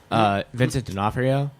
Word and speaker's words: Vincent D'Onofrio: here's somebody that I won't be able to pronounce their name Vincent D'Onofrio that was perfect good job okay he's answer